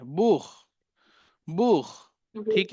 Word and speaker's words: Buch: So CH, I told खा की भी आवाज निकलती है. ठीक है. कब निकलती है? BUCH. बूख. बूख. मायरा, प्रोनाउंसिएशन कीजिए इसका. अभी मैंने एक वर्ड दिया है, लिखा है बूख. Book. बूख. Book. हाँ, लास्ट में खा का साउंड है इसमें.